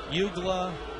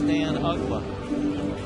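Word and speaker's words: Uggla: a half everywhere he went his name was mispronounced Yuga ugla ugla Ross misses up so Tommy and I spent a good part of April and early May telling everybody not his name is Dan ugla and so ugla ends up having such a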